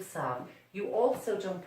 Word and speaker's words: savent: Remember, as I keep telling my students, you do not pronounce the ENT in a verb. So it just becomes ils savent.